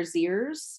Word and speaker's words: zirs: Z, zir, zirs is how you pronounce that set of pronouns.